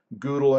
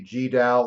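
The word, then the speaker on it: GDAL: libraries especially this one called Google and ogre or some people say gee dal and og are you can pronounce it however you'd like we'll have a midterm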